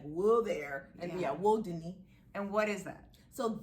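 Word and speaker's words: wudini: is spelled w-u-d-i-n-i but you clarify it's not pronounced like houdini which is how it is it's not that so yeah it's world disney what yeah disney like will there and yeah woe dunny and what is that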